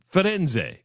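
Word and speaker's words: Firenze: It's not it's not it's Roma in Florence. It's Fenz.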